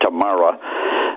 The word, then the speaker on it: Tamara: Yeah, this was in Nuremberg, and her name, we would say Tamara. She pronounced it Tamara.